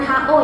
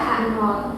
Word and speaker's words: H0: hubungan atau ada perbedaan ini dibacanya h0 ya jangan ho ya Jadi ini dibacanya adalah h0 Nah kita pakai uji